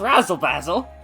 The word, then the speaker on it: Razzle basil: basil that's it which I don't pronounce basil that way usually but like I have to it's Razzle basil it Rhymes so I I could tell author's